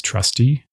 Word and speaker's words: trusty: For example, take the words trusty and trustee. Trustee ends with the long stressed vowel represented by the letter eat. Trusty ends with the shorter unstressed vowel.